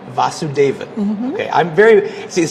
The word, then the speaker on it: Vasuvedan: Vasuvedan. Vasuvedan.